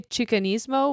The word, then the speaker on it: Chicanismo: The pronunciation Yeah, I would say Chicanismo, which um would probably be like charisma.